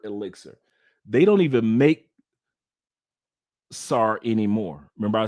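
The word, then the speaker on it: Tsar: Zars which is Sara actually my bad some pronounce it Czar some present pronounce it SAR it's t s a r SAR don't forget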